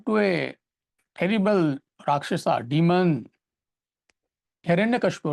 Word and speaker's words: Hiranyakashipu: he was born to a terrible Rakshasa, demon, Hiranyakashipu, right? What was his father's name? Hiranyakashipu. It doesn't matter. Mr. A, difficult to pronounce.